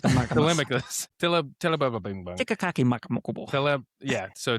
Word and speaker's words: Telemachus: he's really just, poor Telemachus, he's just trying to be a man.